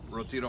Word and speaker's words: Retiro: Hey everybody out there in Kirby land, Larry Shy coming at you from Retiro Park. Did I say it correctly? Yep. Retiro Park in Madrid, Spain.